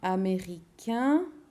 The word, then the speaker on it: américain: If it's a male, it will sound like A-I-N. Sorry, A-I-N will sound like un, a little bit like the number 1.